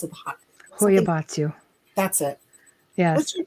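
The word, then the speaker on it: Hoia Baciu: How do you pronounce it? Something- Hoyabatsu.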